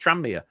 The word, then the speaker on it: Tranmere: It's just Tranmere. It's just like there's no, what? Tranmere. Yeah. Boom. Perfect. There's no gap.